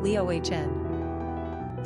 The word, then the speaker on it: Leona: Number of syllables, 3. Ranking popularity, 734. Pronunciation, Leohn.